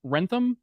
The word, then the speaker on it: Wrentham: here live coming at you from is it pronounced Wrentham Massachusetts yes when you get to that's the